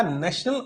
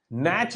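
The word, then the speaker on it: NACH: National automated clearing house, ठीक है, नैच इसको कहते हैं, नैच, नैश। कुछ प्रोनाउंसिएशन अलग अलग लोकेशन पर अलग अलग होगी। कुछ लोग इसको नैच कहते हैं, कुछ लोग इसको नैश कहते हैं, जो भी है, जो भी सही लगे आपको।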